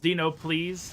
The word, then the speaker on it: DNOPLS: I think it's pronounced Dino Please, but it's DNOPLS, his stream.